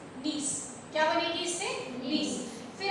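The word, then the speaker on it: gneiss: से बेटा बनती है नीस स्पेलिंग लिखी जाती है जी एन ई आई एस एस नीस क्या बनेगी इससे नीस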